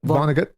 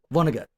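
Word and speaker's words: Vonnegut: lit not higher but literary quality quality and Vongut who or Vongut how do you vongut how do you pronounce Vonart Vonagut Vonagut okay Kurt Kurt Vonagut from the 60s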